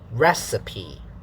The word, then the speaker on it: recipe: weak high low low so the pronunciation is recipe and this pitch pattern is da da da so you can show